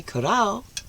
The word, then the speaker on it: Corrao: My mother, Janice Corrao, pronounced the proper way, Corrao, or Vincencia Corrao, my mother, yes, and it goes back, Corrao, Tarantino, Gennaro, etc., etc.